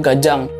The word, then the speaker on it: ganjang: Gajah itu artinya panjang memang penulisannya ganjang tapi cara bacanya di daerah saya itu gajang jadi Begu gajang atau hantu panjang makhluk